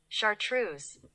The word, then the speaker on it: chartreuse: which is red and magenta, to create a Chartreuse.